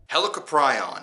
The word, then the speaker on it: Helicoprion: but I might have been saying helicopter yawns name wrong hey it happens at least I know how to say it now helicoprion helicoprion helicoprion helicoprion hell Capri on helical prion